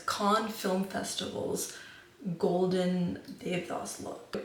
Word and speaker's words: Cannes: AA rise K con it's con I looked up the pronunciation it's AER rise con film festivals golden dath